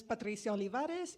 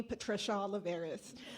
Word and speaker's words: Patricia Olivares: My name is Patricia Olivares, and if you can't roll your R's, it's okay. You can call me Patricia Olivares.